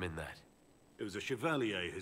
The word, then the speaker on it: Chevalier: See, in Darkest Dungeon, I've been calling them Chevaliers forever. This game is calling it Chevalier, so I think maybe for 2,000 hours in Darkest Dungeon, I've been mispronouncing Chevalier.